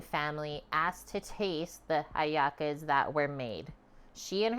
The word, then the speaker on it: hallaca: things things devolved to haaka when if you say it in Spanish the H is silent cool another version presumes